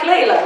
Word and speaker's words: Leila: I can always mention no say it like Layla like Eric Clapton song then you ask me